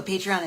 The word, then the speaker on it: Patreon: So Patreon is Patreon. It's patron, like a patron of the arts, but it's spelled wrong.